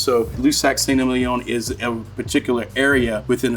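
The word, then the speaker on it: Lussac Saint-Émilion: is a name that most people can't even pronounce so lusac ston is a particular area within a certain region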